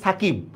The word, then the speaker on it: সাকিব: এখন দেখেন এস এর সাথে একটা এর উচ্চারণ আছে, তার মানে এখানে একটা ভাওয়েলের উচ্চারণ আছে। কে এর সাথে একটা আই এর উচ্চারণ আছে, দেখেন এখানে রস্যির উচ্চারণ আছে। কিন্তু দেখেন বর এখানে কোনো উচ্চারণ নাই। আমরা কিন্তু সাকিবও বলি না, আমরা বলতেছি সাকিব। মানে যেখানে আপনি থেমে যাচ্ছেন যে ব্যঞ্জন বর্ণের মধ্যে, সেখানে আমার হসন্ত হবে।